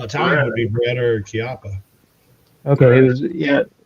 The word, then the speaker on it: Chiappa: Is it Shepa? Is that how you pronounce it? C H I A P P A. Chiappa.